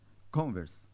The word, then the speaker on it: Converse: né ã ó Alberto como é que se pronuncia essa marca aqui em inglês converse muito bem muito bem né Eu não tava seguro